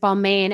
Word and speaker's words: Balmain: took her more into ball man or balmain on how to pronounce it balmain and balenciaga and givenchy